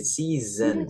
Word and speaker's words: season: Dan seasonnya pun ya di S yang tengah-tengah ini bukan season tapi pakai Z, jadi season.